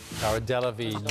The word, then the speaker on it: Cara Delevingne: Cara Delevingne, you are close, but I'm sorry, we can't accept it. It's OK. Cara Delevingne, famous for her prominent eyebrows, particularly.